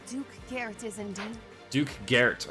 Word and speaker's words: Garrett: What's up, Duke Girth?